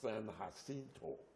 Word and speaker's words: San Jacinto: The San, they call it San Jacinto. It's a Spanish name, which really should be pronounced San Jacinto.